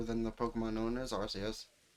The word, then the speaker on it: Arceus: the pokemon known as rcs i still like this soft c that sounds more like an s but again that's kind